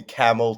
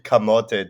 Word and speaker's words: camote: okay no redacting so I've had people call me camel to the username right but it's actually camote so a Cote is